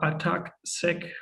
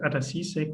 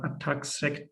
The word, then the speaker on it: ATAC-Seq: I welcome you to the training for ATAC-Seq data analysis, or ATAC-Seq. I quite often will pronounce it ATAC-Seq, which is not correct. It's actually called ATAC-Seq data.